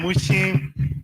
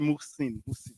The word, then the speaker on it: Musin: That's not from Mushin. Yes, Musin is not from Mushin. So, and you pronounce it Musin.